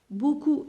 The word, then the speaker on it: beaucoup: comme la lettre o beaucoup je prononce pas la lettre p de chocolat je prononce